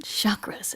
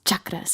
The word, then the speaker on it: chakras: can do yoga poses Chuck Dez which is the correct way to say it cause like they're like it's not chakras it's Chuck des and I was like